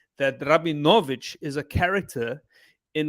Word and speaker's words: Rabinowitz: them my name and surname as it is necro benefits and she said no that is a russian surveillance that is not how you pronounce it's rabbi novich krabinovic this is and i was like how